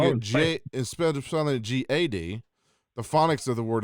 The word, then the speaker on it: Gad: let everybody know the prophets name is always pronounced GAD but if you go look at the phonics of the word it's the word God yeah and that name